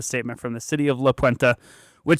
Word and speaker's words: La Puente: First of all, you got to say it like an LA Chola, La Puente. You said La Puente. Yeah, dude. You said it like an Anglo-man from Colorado.